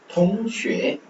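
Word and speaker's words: 同学: ஸோ எக்ஸ் வரும்போது அந்த SH ஷி அந்த மாதிரி வருது. அடுத்து UA ஷே. அந்த நம்ம ஈக்குவல் பார்த்தது ஷே. தொங் தொங் 8 தொங் தொங் தொங் ஷே தொங் ஷே தொங் ஷே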